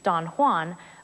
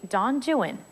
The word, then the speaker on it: Don Juan: Unlike the familiar Spanish pronunciation Don Juan, Byron's poem is actually Don Juan. We know that from the rhymes, like the two verses at the very beginning of the poem that rhyme Juan with true one and new one.